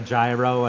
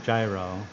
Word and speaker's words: gyro: But when you think about the word the hero came from that hero sandwich came from gyro that's like because it's actually I think the original pronunciation is like hero hero I think you got to freaking get that um something.